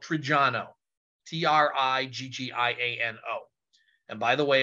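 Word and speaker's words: Triggiano: pronounce it in a way that you'll never spell it right um my family's from a town called trijano t-r-i-g-g-i-a-n-o and by the way if anybody in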